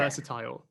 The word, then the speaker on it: versatile: versatile. So Versatile, okay. I think one thing in British English, we always say "I'll" with these words.